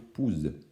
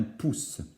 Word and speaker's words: pousse: s'écrit avec ent évidemment ne fallait pas oublier les deux aces pour ne pas écrire pouze mais bien pousse donc pu sprinter puisque